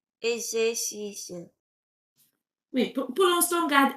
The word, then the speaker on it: exercices: Oui, c'est pas exercice, il y a une, c'est comme s'il y avait une autre consonne. Je vais prononcer plus doucement. C'est comme s'il y avait un exercice. Exer. Exercices. Juste, Exercices.